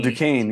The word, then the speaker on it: Duquesne: I think it's like Oh, Duquesne, Duquesne, yes.